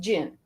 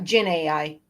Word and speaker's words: Dzin: also Googled it, and it's pronounced Jin. Oh, like okay. Genie. Huh? Yeah, okay. Like a genie. So like Jin AI? Yeah, Jin AI. That was my first guess, actually. When I first saw it, that was my first thought. Like the Z is pronounced like a ZH or a French J.